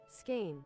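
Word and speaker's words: Skåne: I don't know how to pronounce this. I've always seen it written. Skun? Skin? How do you pronounce it? Skane? Skane. Skane.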